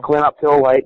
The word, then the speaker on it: clinoptilolite: How do you pronounce it again? The chemical? Clinoptilolite is the zeolite.